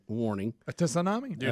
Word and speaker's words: tsunami: A tsunami? Do not like which, those warnings. Which is, as I like to call it, Greg, a tsunami. Tsunami. Tsunami. Well, you know how I feel about silent letters.